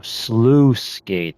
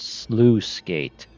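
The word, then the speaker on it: Sluice Gate: Oh, Slooh Gate, that's how you pronounce it. Slooh Gate.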